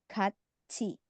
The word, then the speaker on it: 같이: 같이. Jadi dibacanya 같이. seperti ciet ya.